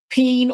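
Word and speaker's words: penne: So, I got some peen or pin. I know somebody could be like, "Oh, you said it wrong." But it's uh pina or pen pasta, white fish, potato salad, cold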